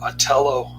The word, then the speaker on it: Otello: fate of Othello or Otello, whatever the case may be. Anyways, I guess the H is silent in Italian.